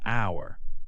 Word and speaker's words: hour: The letter H is silent in words such as honest and hour. You say onced and hour.